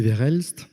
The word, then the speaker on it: Verhelst: donc je m'appelle verhelst c'était presque eu ça s'il faut juste essayer de prononcer toutes les lettres ça s'passe marche bien